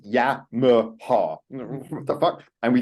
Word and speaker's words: Yamaha: It's like, you know, like the word, like, oh, I ride a Yamaha. It's like in Japanese, all of those A's have the sound pronunciation. In English, it's Yamaha.